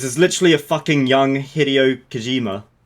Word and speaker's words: Hideo Kojima: literally a fucking young Hideo Kojima. What? Hideous Kojima. Hideo Kojima. You know that guy who did Metal Gear? I know who Hideo Kojima is. Yeah. I'm making fun of the fact that you pronounce it like that. I ain't gonna fuck up how it's pronounced. Hideous Hideo.